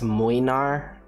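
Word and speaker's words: Młynar: So apparently his name was supposed to be pronounced as mlynar.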